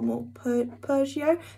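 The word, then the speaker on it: Morpurgo: um running wild by michael moore pergio and that's how you say it um so i'm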